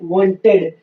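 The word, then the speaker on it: wanted: अगर word टीईडी या डीईडी से समाप्त होता है तो हम यहाँ पे ई का उच्चारण करेंगे, यानी यहाँ साइलेंट नहीं रहेगा।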